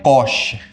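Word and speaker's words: cosh: और इसको पढ़ते हैं कॉश एक्स.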